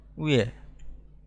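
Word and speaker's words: 왜: উয়ে, এটার উচ্চারণ হচ্ছে উয়ে।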